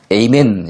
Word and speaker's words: 아멘: 자, 영어에서는요, 똑같은 아멘인데 발음만 에이멘 이렇게 발음을 하죠.